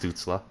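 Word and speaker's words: Stützle: back I left to make sure those names pronounced stutzla that's what I've been wrong where's this dude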